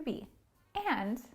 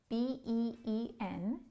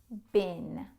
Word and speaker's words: been: of the verb to be and a quick note the pronunciation of B EE n is been Very often we hear students say bean This is not correct. So practice it say bin I have been Very